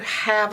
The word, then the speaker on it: have: It has an E on the end that you can't hear, and it's not doing its job either.